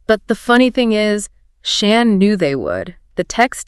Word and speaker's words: Shan: And just a quick note for you, his name is Shan, pronounced just like you'd say Dan or Stan.